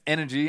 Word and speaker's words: NRG: win or energy win it's pronounced energy apparently but n is the spelling of the team don't worry too much